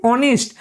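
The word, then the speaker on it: honest: অনেস্ট। তো অনেস্টের অচ্চারণ হয়। প্রথমে এই যে এইচটা থাকে সেটা সাইলেন্ট থাকে।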